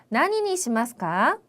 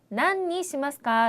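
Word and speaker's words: 何にしますか: 난니 시마스까? 라고 발음을 하기도 하는데 주로 나니라고 발음을 조금 더 많이 하죠.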